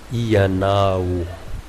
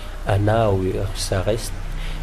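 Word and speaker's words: ianao: Iyanao. Mais encore une fois, ici, on peut enlever les I pour Diego Ciares. Anao, il reste Anao. C'est correctement parlé aussi.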